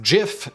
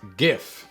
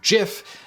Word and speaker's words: GIF: pronunciations they are wrong it is a soft g pronounced jif end of story while the debate should